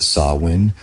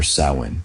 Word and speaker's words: Samhain: end of harvest with a festival called Samhain, pronounced Samhain or Samhain.